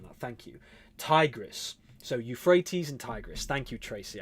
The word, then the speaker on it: Euphrates: Euphrates.